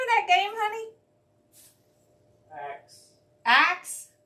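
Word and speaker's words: Acks: Axe. Axe? Like like a chopping axe? Or axe like act one, act two? A C K S, but Oh. it's pronounced like A X E.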